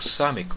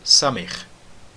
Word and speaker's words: Samek: Você pode pronunciar o Samek como Samek ou Samer. Tá bom? Samek ou Samer. De qualquer forma, o som do Samek é o som de S em sapo.